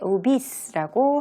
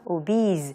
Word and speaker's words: obese: 이때 obese라고 하지 않고요. obese, 그 z 발음을 낸다는 것 주의하시면 되겠습니다.